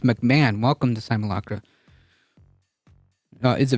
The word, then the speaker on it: McMahon: like a very very sleazy individual oh it's pronounced McMahon welcome to simulakra is a very bad person